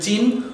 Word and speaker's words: চিহ্ন: চিহ্ন কোনটি হবে না এটির উচ্চারণ হবে চিহ্ন নহ চিহ্ন নকে মহাপ্রাণ করতে হবে চিহ্ন এটাকে বলতে পারি